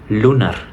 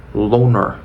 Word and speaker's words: lunar: la verdadera pronunciación entonces dijimos no es lunar sería lonar lonar la siguiente palabra que